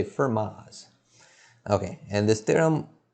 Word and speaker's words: Fermat: this theorem is called firma's theorem so when i pronounce this name we don't pronounce the t so i just say fermas okay and this theorem